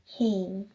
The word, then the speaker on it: 해: And it's funny how the written, like, they have like different, I'm trying to, they're written in like different ways, but they have the same pronunciation.